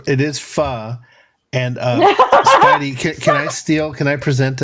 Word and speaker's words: pho: it is pho. And Spidey, can I present a thing real quick? Oh, absolutely. Yeah, sure. This is an actual restaurant in San Antonio, Texas. Okay. And knowing that it's pronounced pho, go ahead and read the title of this.